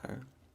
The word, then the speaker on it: Tyre: of tyre or yeah i believe it's pronounced tire and here is the